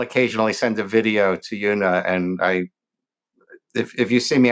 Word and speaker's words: Juna: I am at the official Una, and Una is spelled with a J on Instagram.